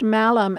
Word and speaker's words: malum: learned that in Mal in Latin a word pronounced malum means apple and evil which explains